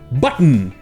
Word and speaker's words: button: Ça, on aurait envie de le prononcer button, ou comme on a vu hier, button, mais en fait, ça se prononce en général button. Ici, le TTON se prononce n.